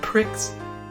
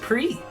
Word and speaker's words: Prix: I won the international Grand Pricks it's pronounced pre not the award that